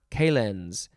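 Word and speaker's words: calends: with dates and then our last word is calenz or k-lens c-a-l-e-n-d-s you could also spell it with a k this is a noun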